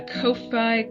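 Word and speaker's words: Ko-fi: and we have a Kofi Kofi coffee I don't know how to freaking pronounce that I know it's supposed to be like coffee but it doesn't look like it to me yeah it's supposed to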